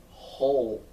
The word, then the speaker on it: whole: So we have H, long O, and then L. And the E is silent. So we have H, O, U. H, O. Whole.